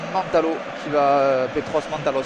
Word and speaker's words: Mantalos: le numéro 20 grec, Petros Mantalos, je pensais plutôt à la grecque, on va le prononcer à la grecque, qui va sortir ce ballon de touche.